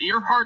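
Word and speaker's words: Earhardt: Is it Earhart? I'm not sure if it's Earhart or Earhart. I believe it's Earhart, kind of like Amelia Earhart, but it's spelled different.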